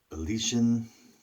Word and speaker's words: Elysian: But so I wanted to give them a try, and Elysian is how it's pronounced.